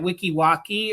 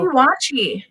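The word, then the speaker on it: Weeki Wachee: Maybe they went to that Wikiwocki or whatever it is, you know? Wiki watch.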